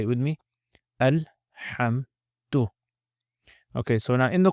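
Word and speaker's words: الحمد: So again, exactly the same pronunciation, alhamd. Say it with me. Alhamdu.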